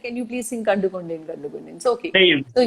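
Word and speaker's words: Kandukondain: Like, okay, I'm not going to mispronounce it. You say it. What? How do you say it? Kandu Kunde. Kandu Kondain.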